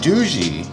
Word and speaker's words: Doogee: Now, it's apparent that Doo-jie, and it's spelled Doogee, like Doogie Howser, guys.